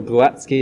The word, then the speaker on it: Glowacki: Yep, second time around to prepare for Glowacki or Glowacki as you say it properly.